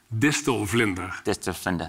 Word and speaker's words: distelvlinder: Can you pronounce it for me? You do it. Dislinda. Distender.